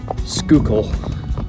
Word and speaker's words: Schuylkill: I've just been informed that the Schuylkill River and the whole region of Schuylkill County, is actually pronounced Schuylkill, which I find hilarious and not near as interesting as my version.